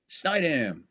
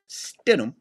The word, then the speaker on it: Stidham: Snydam. First series, Broncos got the kickoff. Begin with a handoff. It'll be good for 2 yards. So it's pronounced Stidham, okay? Stidham.